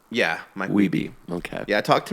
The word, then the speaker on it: Wiebe: Is that how you pronounce his last name? Yeah, Mike Wiebe.